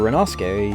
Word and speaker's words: Renos: say hello Mr rasuk R Renos that's how it's pronounced Mr Renos uh doesn't allow me